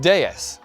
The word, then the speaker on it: DS: on English speakers but DS in French is pronounced de and de means goddess it really feels like